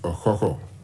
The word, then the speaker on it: Ọkhọkhọ: receive the bronze cockerel, which actually is rightly pronounced Ọkhọkhọ.